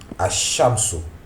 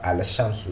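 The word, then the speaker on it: الشَّمْسُ: Ash-Shamsu. Hein, ça ne se prononce pas Al-Shamsu, mais Ash-Shamsu. On appuie sur le shin parce que le shin est doublé.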